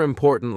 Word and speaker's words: important: Another important lesson I learned was about stress in words. In English, some syllables are stronger than others. For example, in the word important, the stress is on the second syllable.